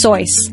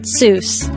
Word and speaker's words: Seuss: rethink your childhood but the correct way to pronounce the author's name is soy not Seuss his friend Alexander leang